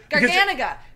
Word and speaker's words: Garganega: We looked up the pronunciation. We wanted to... Garganega.